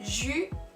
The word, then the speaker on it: juin: Juin. Juin. Yo sé que es súper raro porque la I casi ni se escucha.